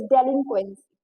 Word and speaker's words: delinquency: Letter I have डेलिक्वेंसी, यस इट्स डेलिक्वेंसी, ठीक है, डेलिक्वेंसी, ठीक, दोबारा से हम इसे प्रोनाउंस करते हैं क्योंकि काफी सारे लोग इसको गलत प्रोनाउंस करते हैं, तो इट्स डेलिक्वेंसी, डेलिक्वेंसी, ठीक है।